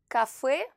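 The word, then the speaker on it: кафе: Alors vous entendez qu'ici, la lettre Y se prononce E et pas Y. Alors ici, c'est une exception car il s'agit tout simplement d'un nom d'origine française et on a voulu rester proche de la prononciation d'origine.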